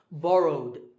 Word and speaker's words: borrowed: In number two, the last sound is w, which is voiced, so the ed ending becomes d. Okay, so borrowed, borrowed.